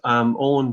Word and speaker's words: Owen: Yeah, it's Owen is my name. It's the Irish spelling of the word own. It does cause confusion sometimes to try and get it pronounced.